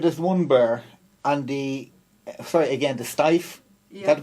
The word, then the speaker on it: Steiff: And it started with this one bear, and the Steiff, is that the pronunciation? Steiff, and the Steiff company now literally sends bears.